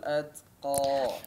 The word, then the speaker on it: الأتقى: Perhatikan di nun tasydid ya, gunnahnya diperhatikan, dipertahankan, kemudian perhatikan pengucapan ta yang disukunkan ya. وسيجنبها الأتقى. Nabuhal atqa. Atqa. Jangan terlalu banjir. Ya. Banjir itu biasanya indikasi daripada tidak menunaikan sifat syiddah.